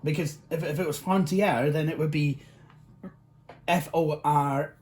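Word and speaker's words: Frontière: that the Flying Scotsman transmogrified, well, Video Sans Frontier transmogrified into the Flying Scotsman, and I kept mispronouncing it. I was pronouncing it Frontier, which it wouldn't. It's not, because if it was Frontier, then it would be Fortier.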